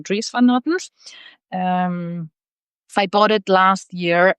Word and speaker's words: Dries van Noten: that I was sure you would like you pronounced his name like Dries van Noten, so without the S. But then they were actually saying Dries van Noten, so now I'm gonna be saying Dries van Noten.